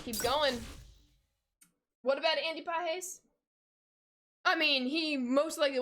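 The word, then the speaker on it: Pages: The way I said it's pronounced Pajes. It is a Spanish last name.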